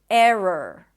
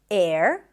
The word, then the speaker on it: error: what happens is that this transition becomes almost seamless and it sounds like the R is just one long R. Listen. Error. Error. It's not air.